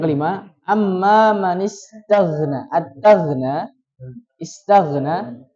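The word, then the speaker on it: اسْتَغْنَىٰ: At-taghna, istaghna tadi terbacanya mohon maaf aghna. Yang betul apa? Ya, mengalir.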